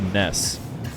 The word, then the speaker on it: Nass: and also know that Nas did ask for his name to be pronounced Ness when I first talked